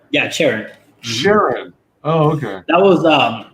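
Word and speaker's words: Charon: of the book alone yes uh is this pronounced sharon or sharon yeah sharon oh okay that was um so that's from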